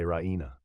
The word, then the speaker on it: ra'ina: unzurna, they would say ra'ina. Ra'ina, when pronounced properly, has much the same meaning as unzurna, but with the protraction of the second vowel, it becomes ra'ina, meaning our shepherd, and with the protraction